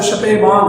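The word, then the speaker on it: Spemann: हॉन्स शपेमान, जो प्रोनाउंसिएशन है वो शपेमान है. हॉन्स शपेमान इज the exact pronunciation of this scientist.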